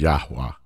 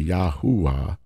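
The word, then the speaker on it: Yahuah: three syllables that that's that middle syllable the the Hebrew VAV is almost silent you just frame your mouth as if you're going to say it but you don't really say it so I wouldn't say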